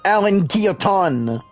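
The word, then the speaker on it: Alain Guilloton: Oh, that's how you say it. Alan Guilloton. Yeah. put in their French accent and all that.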